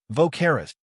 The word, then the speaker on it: Vocaris: Vocaris said, "Yes, that's how it is pronounced. That was a splendid pronunciation indeed.